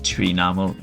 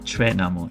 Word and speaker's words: Chwinamul: The correct pronunciation is Chwinamul, not Chwinamul, as I was saying in the video so far.